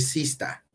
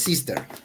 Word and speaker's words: sister: Aquí dicen broda porque es la pronunciación en británico. Brother. Y si es broda, porque acuérdate que el inglés americano y británico es diferente, es pronunciación broda. Y aquí va a decir sista. Fíjate. Sista. Sista, dice sista. Y en sí es sister, pero aquí dice sista, ¿no?